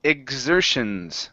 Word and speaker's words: exertions: Next one here is exertions. Okay, so this is sort of like a G sound in here. So it's a G and a Z sound together.